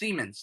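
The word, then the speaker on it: Siemens: It's Semens. That is how you pronounce it.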